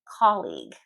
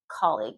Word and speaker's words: colleague: Colleague. Colleague. I have heard this pronounced 1,000 different ways in business English. It's pronounced colleague. Colleague.